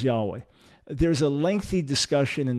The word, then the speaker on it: Yahweh: make a nice point we have many reasons to say it was not yahuwah or jehovah many reasons to say that and the best argument is that it was yahweh there's a lengthy discussion